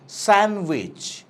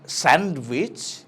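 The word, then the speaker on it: sandwich: Silent D, যেখানে আমরা ডিটা আনপ্রোনাউন্স থাকে, যেমনটা স্যান্ডউইচ, নট স্যান্ডউইচ, স্যান্ডউইচ।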